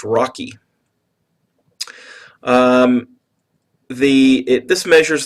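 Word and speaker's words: ROCE: on Capital employed it's abbreviated rce and it's pronounced Rocky um the it this measures the profitability of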